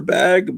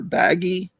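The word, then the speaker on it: Bagge: pet I thought it was pronounced Peter bag but apparently it's Peter baggy this what I've been told by Tom Smith who knows Mort Todd who hung out with them so it must be pronounced that way um and uh I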